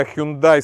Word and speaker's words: Hyundai: легкових автомобілів і позашляховиків Ми звикли що у нас назва компанії вимовляється як Hyundai але самі корейці вимовляють її як hyunda і оця стилізована буква